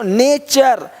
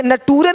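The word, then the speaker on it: nature: देखो नेचर, यहाँ पे नटूरे नहीं बोलते, नटूरे नहीं, नेचर, है ना।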